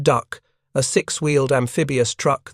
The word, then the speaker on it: DUKW: It was the DUKW pronounced duck, a six- wheeled amphibious truck that would soon deliver more supplies per hour than any other vehicle in the invasion fleet.